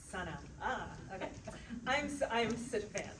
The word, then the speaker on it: SunAh: SunAh, and that is how you say it. It's SunAh, like the sun. SunAh.